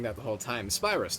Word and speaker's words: Spyrus: And yes, I realize I've been mispronouncing that the whole time. Spyus, not sprris.